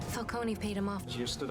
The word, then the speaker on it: Falcone: finally got around to teaching people how to pronounce his name falcone paid him off just stood up to falcone